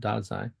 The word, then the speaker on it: Dasein: It's pronounced Dasein.